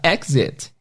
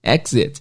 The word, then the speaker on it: exit: É a palavra exit. Exit. Primeiro, a dica de pronúncia. E-X-I-T, não é exit, é exit.